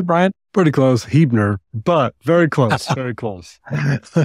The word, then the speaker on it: Huebner: Did I pronounce all that correctly, Brian? Pretty close, Huebner, but very close, very close.